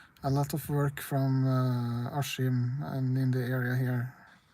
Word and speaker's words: Askim: We say Askim. Askim. Even though it's written Askim.